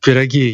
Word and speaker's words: pierogi: With like some piragi, yeah. Piragi, okay. Sorry, that's my American that's pronunciation. The English pronunciation.